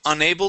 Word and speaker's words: unable: Okay, I found myself unable to move. I found myself unable to move. Good, yes, so our stress would be right here on able, okay?